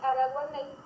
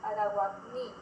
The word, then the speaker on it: Araguaney: Es decir, en vez de decir Araguaney, decían Araguaní. No pronunciaban la E correctamente y la Y correctamente.